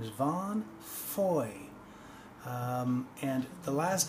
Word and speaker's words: Fahie: of his cds here his name is Vaughn Foy and the last name is kind of tricky aah ie I would have really assumed it would have been Fahy or foggy but apparently it's pronounced fo y boy and